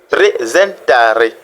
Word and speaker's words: presentare: Donc le ta, l'accent tonique tombe sur le ta, presentare, qui dit en français présenter.